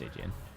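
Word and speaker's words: Stygian: not just red stigan I'm pretty sure it's pronounced stigan yeah it's stigan related to the stick River St yeah okay today I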